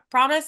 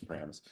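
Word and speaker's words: Pramas: Promise, is that how I said it? Did I say it right, Matt? Pramus, maybe? I think Pramis? it's Pramus. Pramis.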